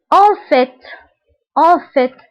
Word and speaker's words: en fait: الكلمة الأخيرة en fait. فانتبهوا هنا في تنطق ب في ولكن إذا سبقتها on فكنقولوا en fait.